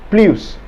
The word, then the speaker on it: plus: please as a summary the s in p l u s is never pronounced in french when it carries the idea of a